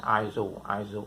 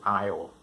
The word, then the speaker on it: aisle: ย ง ตั ว s เ ป็ น aisle แ ต่ จ ริ ง ๆ มั น คื อ aisle น ะ aisle ค ำ ต่ อ ม